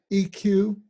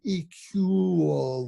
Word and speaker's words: eQuoo: But then now, is the app that you're talking about eQuoo? Is that how you pronounce it?